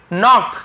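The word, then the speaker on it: knock: नॉक, के silent होता है।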